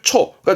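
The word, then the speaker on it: 超過: 그래서 뛰어넘을 초가 됩니다. 이게 초과. 넘어서는 초과의 초자가 되겠습니다.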